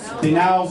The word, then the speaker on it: DINALVA: I'm going to pronounce it wrong. DINALVA.